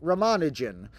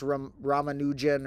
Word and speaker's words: Ramanujan: So Ramanujan, the classic mathematician, sometimes pronounced Ramanujan or different ways. I think the more official original way would be closer to a Ramanujan. So we'll say Ramanujan.